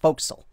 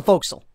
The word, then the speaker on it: forecastle: the fo'c'sle it's uh it's spelled like forecastle but it's pronounced fo'c'sle that's the fo'c'sle or the bow whatever